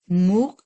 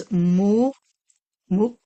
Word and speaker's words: Muqtadir: It's MuqTadir, like tada, but Tadir, right? MuqTadir.